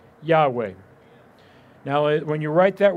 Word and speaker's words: Yahweh: yad hey vahe now if you say that really quickly you end up getting the word yahweh now when you write